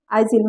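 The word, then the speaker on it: aisle: clear ये है कि एस के बाद अगर एल आए तो यस साइलेंट होगा एस के बाद कहीं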